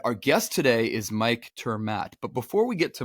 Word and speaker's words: ter Maat: is Greg and again our guest is Mike turmat and I I hope I am pronouncing that correctly Mike will tell me here